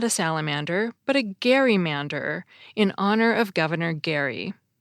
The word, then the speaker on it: gerrymander: and you'll notice that the term was originally pronounced gerrymander to reflect the pronunciation of Governor Gary's name